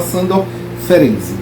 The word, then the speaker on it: Sándor Ferenczi: Digitar Sándor, Sándor, é assim mesmo, é Ferenczi, Sándor Ferenczi, mas a gente fala Sándor Ferenczi.